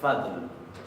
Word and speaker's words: fall: Bien, fall significa caso acá, lo vamos a pronunciar fadl, pero no con una D no tan enfatizada como la pronuncié yo. Esto va a ser nefnifadl. Recuerden que la doble L se pronuncia así.